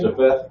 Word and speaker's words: Japheth: Ham had 3 sons, Noah had 3 sons, which was Ham, Shem, and Japheth. How you say it again? Japheth?